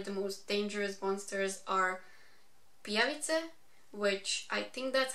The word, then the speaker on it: pijavice: most dangerous monsters are pijavice, which I think that's how you pronounce that, because that's how we pronounce it in Croatian. It's a word for leech, and in this story pijavice are some sort of